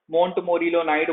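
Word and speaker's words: montmorillonite: काओलाइनाइट के बाद दूसरा हम लोग पढ़ लेते हैं मोंट मोरिलो नाइट। मोंट मोरिलो नाइट, ठीक है ना, स्पेलिंग थोड़ा ऊपर नीचे हो सकता है, बोलते यही है, मोंट मोरिलो नाइट बोलेंगे। मोंट मोरिलो नाइट में क्या होता है आपका?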